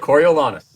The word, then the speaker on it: Coriolanus: Coriolanus. By the way, thank you for pronouncing it correctly.